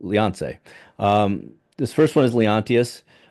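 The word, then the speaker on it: Léonce: I think it's crazy that in French it's Leonce. It's like Beyonce, but Leonce.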